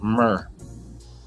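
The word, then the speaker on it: mr: It's a plow, and it's pronounced Mer, M-R.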